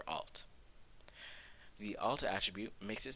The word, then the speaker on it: alt: and the alt attribute which we pronounce as alternative or alt the alt attribute makes